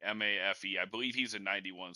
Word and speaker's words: Mafe: Yeah, and then they had Malfo or whatever for the Seahawks. I might be saying his name wrong. I screw it up. Oh, Mafe, excuse me. Mafe.